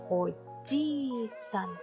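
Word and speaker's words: おじいさん: Sohu se convierte en oji-san con larga pronunciación.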